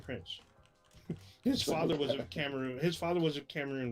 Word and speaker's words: Cameroon: So Yaphet Kyoto, his father was, I believe it's pronounced Cameroon. Is that correct? Or Yeah, that's right. say Cameron, but it's Cameroon.